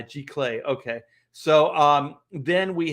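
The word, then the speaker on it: giclée: do you say glay g clay everything in art is french you know that right second c is a k uh g clay okay so um then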